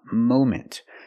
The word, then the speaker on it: moment: moment at the moment we cannot use a short a sound like hot and stop and Mom we need the long o sound like no and go and phone Mo moment at the moment right